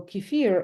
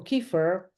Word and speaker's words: kefir: so I make myself oatmeal Keir or Keir uh whichever pronunciation you choose and it's very